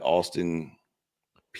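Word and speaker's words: Austin Peay: Ohio State at Grambling, Penn State, Florida International, LSU, Louisiana Tech, Georgia at Austin, PA. Is that how you say it? Austin P. P, yeah.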